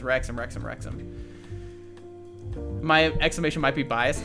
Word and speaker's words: Wrexham: I forget how to say it because you have to say it. Wrexham, that's what it is. Wrexham.